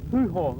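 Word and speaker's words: Pouhon: This one's called Le Puhong. That's my best version of a French pronunciation.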